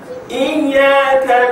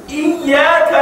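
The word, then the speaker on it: إياك: Contohnya kalau kita baca surah Al-Fatihah, Iyyaka na'budu wa iyyaka nasta'in. Di situ ada sabdu, ada sidah. Bacanya harus ditekankan suara.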